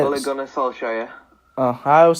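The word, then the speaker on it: Solskjær: But Ole Gunnar, I can't pronounce it. Solskjaer. Can we say it for you? Yeah, say it. Ole Gunnar Solskjaer.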